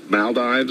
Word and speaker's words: Maldives: Mal malas is is that how or the Maldives how do you pronounce that maldiv oh yeah okay Mal which